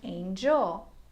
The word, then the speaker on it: angel: For example there's angle and angel. Can you hear the difference in the G sound? Angle has a hard G an angel has a soft G.